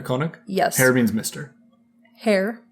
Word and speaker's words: Herr: Herr. Yeah, Frau is Mrs. Herr is Mr. Like hair like my... I know it's not spelled like my hair, but it's said like my hair.